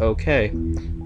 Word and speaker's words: Oque: them spell okay o q u e and pronounce it okay now the way this works is that each